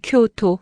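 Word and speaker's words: 京都: 오사카는 오오사카, 교토는 쿄토, 후쿠오카는 후쿠오카. 발음이 거의 한국어랑 비슷해서 야매로도 통함.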